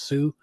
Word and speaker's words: Sault: Marie, which is spelt salt but pronounced Sioux.